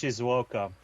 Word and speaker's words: Shizuoka: It's pronounced Shizuoka.